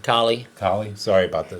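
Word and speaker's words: Colley: And Dana Cooley, we want to give you a shout out too. That's his name, right? Collie.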